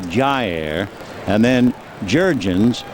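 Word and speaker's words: Jair: ball low ball one his first name is spelled j a i r and you pronounce it Jer and then jurgons j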